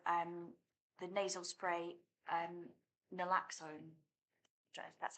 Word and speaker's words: naloxone: the pilot of um the nasal spray um naloxone that's how you pronounce it um but it's it sounds like